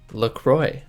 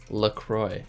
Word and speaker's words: La Croix: in the United States look Roy apparently is how it's pronounced that's what they say on their website it's pronounced Lacroix which hurts my Canadian ears knowing that the French word for like Holy Cross is neck cloth so we're gonna go with Lacroix just because that's how they say it's pronounced I don't know if